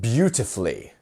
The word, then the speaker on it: beautifully: let's let's pronounce this so where is our stress syllable in this where would you say if you follow the same rule as last time yes it's the first one here so bu bu